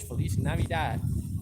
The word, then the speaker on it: feliz navidad: thank you so much merry christmas felice navidad that's how you say it in spanish feliz navidad and sometimes they say